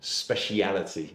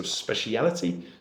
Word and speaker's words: speciality: specialty we use a different word which is pronounced speciality okay so speciality would be the kind of clear pronunciation for